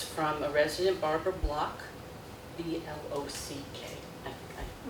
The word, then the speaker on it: Block: She said this is for public record, and it's from a resident, Barbara Block, B-L-O-C-K. I pronounced it right.